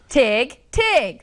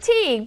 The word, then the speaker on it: Tig: other day I pronounced Tig. Some of us pronounce it Teague, but I pronounce it Tig because I'm from a hop, skip, and a jump over it in Mejia.